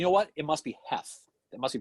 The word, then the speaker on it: Heath: what it must be Heth it must be pronounced it must be pronounced he the a must be silence you know so the